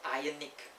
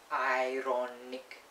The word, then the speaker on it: ironic: ] it's not silent when you put an i and c at the back of this word it becomes not ionic ironic iron nick it's the correct way ironic i'm not saying